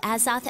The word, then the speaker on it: Azoth: ditch study hall to hang out by the Azoth again yesterday what is the as off although